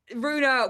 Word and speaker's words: Rue: So I was like, well, Rue's a word, like Rue the day. And in France, no problem. Everybody in France can pronounce it first time because it means road.